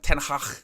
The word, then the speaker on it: Ten Hag: pick up everyone well done Owen notice your pronunciation of tenhach was spot on I've been I've been working